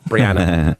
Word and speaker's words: Brianna: And um I always have to over pronunciate the B cuz otherwise people think it's Rihanna. She went nuts, right? Anyway, Brianna.